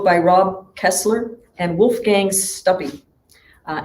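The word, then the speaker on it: Stuppy: rob kessler and wolfgang's stubby uh anybody named wolfgang with a last name that rhymes with puppy is all right so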